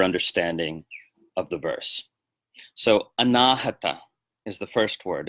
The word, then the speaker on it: anāhata: whereas anāhata means unstruck. So the vowel lengthening actually gives us the opposite meaning.